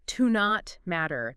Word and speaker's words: to not matter: Yeah, you might hear it almost like one word, like to not matter. The T in not kind of blends into the M.